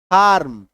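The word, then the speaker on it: farm: इसका उच्चारण जो है आपको पूरा पूरी र नहीं करना है बल्कि आधा उच्चारण करना है इसका क्या करना है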